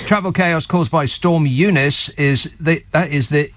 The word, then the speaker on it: Eunice: Travel chaos caused by Storm Eunice is the Eunice. EU nice. That's how it's spelled. I've only just noticed that. EU nice. Not EU, not nice.